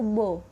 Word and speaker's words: beau: Di sini beau dibacanya itu beau.